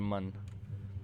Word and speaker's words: Mun: into space and eventually the moon or as they pronounce it the mun you play as a